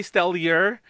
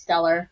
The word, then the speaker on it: Stellure: stellar yeah yeah they they clarified that like a while back like how it's pronounced in this pronounced stellar yeah it's just my